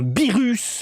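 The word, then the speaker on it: Beerus: dis BS et vous vous le dites à la française avec un birus bien prononcé donc un BS en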